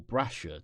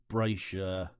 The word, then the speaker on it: Brasher: Now you might be looking at this and thinking, Berghaus Hillwalker, don't you mean Brasher or Brasher, depending on how you want to pronounce it? Yes. Essentially, Berghaus bought out Brasher a number of years